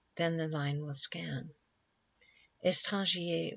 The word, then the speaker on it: étranger: Étranger was probably pronounced as of 2 syllables only, but it is difficult to make this line scan.